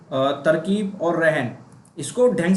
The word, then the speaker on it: तरकीब: देखो ये तरकीब है, इसको हम तरकीब बोलते हैं, आपने हिंदी में सुना होगा तरकीब। और ये होता है रहन, जैसे रहन सहन में जो आता है, इसमें सेम प्रोनाउंसिएशन यूज होता है, रहन सहन, और ये होता है तरकीब। अभी आप अगर नोटिस करेंगे तो इसमें ता और रा दोनों में ही कोई मात्रा नहीं है, या ये कह सकते